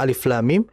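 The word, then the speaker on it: الم: Seperti di dalam surah Albaqarah ayat pertama, alif lam mim itu kita baca dengan ejaannya. Alif, kemudian lam ada mimnya, kemudian ketiga mim. Nah, kita harus membaca sesuai dengan ejaannya.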